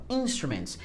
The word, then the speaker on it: instruments: Então, a sílaba tônica seria na primeira, ó, instruments.